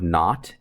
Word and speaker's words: naught: equation v sub zero so this is actually pronounced v sub naught n a u g h t v sub